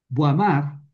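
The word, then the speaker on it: Boismard: Eh, Buamar, eh, se escribe Boismar, cree que es posible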